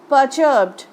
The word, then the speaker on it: perturbed: Uncle রাহিম বলছে the British গ্রিউ পারচার্বড, এই প্রোনাউন্সিয়েশনটা খুব ইম্পর্টেন্ট। স্পেলিংটা দেখো, PERTURBED, perturbed, not perturbed.